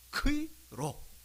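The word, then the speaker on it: Chi-Rho: 그래서 이 X로 보이는 것을 크이라 그러고, 이 P로 보이는 이 글자는 로라고 읽습니다. 크이로.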